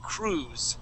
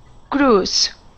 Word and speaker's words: cruise: say crew Cru and that I is going to be silent okay so we would not pronounce that I we say Cruz try that Cruz good nice job okay